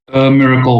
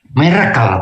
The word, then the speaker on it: miracle: Miracle, Pak. Miracle, baik, betul saudara. Miracle, karena sebagian besar ada yang baca miracle, tapi bacanya miracle.